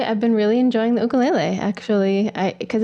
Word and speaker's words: ukulele: I noticed that you pronounced the tiny instrument differently than most of us mainlanders. Say that again. Ukulele. And why is it that you pronounced that correctly? Where'd you learn that? Because I live on Maui.